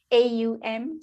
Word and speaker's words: AUM: which is called uh AUM so it's om you know our uh Eastern um philosophy om comes from our Eastern philosophy it's spelled AUM um so my consultant